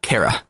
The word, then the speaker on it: Kira: So to them, when they hear Killer, they hear Kara. And it actually translates over into the manga and the show and how they pronounce it.